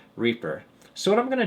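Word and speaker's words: R34P3R: The first one is pronounced Reaper."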